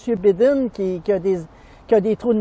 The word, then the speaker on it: Biden: Ben, on le prononce habituellement Biden, pas Bidon.